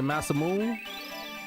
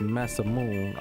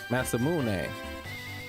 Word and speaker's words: Masamune: You don't have the masam moon. For some reason, I cannot pronounce that right. Even though Adrian told me it's massamoon.